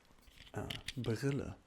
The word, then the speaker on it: Brille: similar, but it's called Brille. B-R-I-L-L-E. Brille. It's a bit difficult to pronounce at the beginning, I believe. And this is how you spell it. Brille. That was good, actually. Brille. Yeah, pretty good.